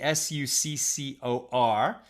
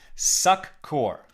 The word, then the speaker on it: succor: you actually say it bill is telling me suck core you say it's succor succor when you spell it